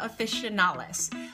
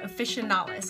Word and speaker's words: officinalis: has is called Salvia officinalis. I think I say that right, officinalis. I always want to say officinalis, but I don't think that's how it's spelled.